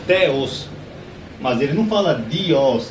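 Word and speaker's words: θεός: um pouco de teologia os teólogos italianos Eles sabem que essa palavra aqui em grego se pronuncia teos Mas ele não fala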